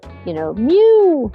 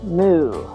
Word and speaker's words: mu: And we pronounce it kind of like a mewing cat, mew. Not necessarily like what a cow says, moo.